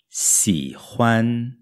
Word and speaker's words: 喜欢: launch muito bem a próxima palavra é gostar se ram se ram a primeira sílaba é xis e que já tinha aparecido